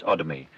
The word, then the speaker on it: Odomi: Odomi, with the emphasis on the O.